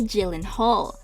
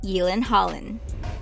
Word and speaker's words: Gyllenhaal: not really correctly well we normally say jaylen hall but it is false the correct variant would be yelen holland the name gyllenhaal i